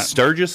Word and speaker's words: Sturgis: The Sturgis Medal.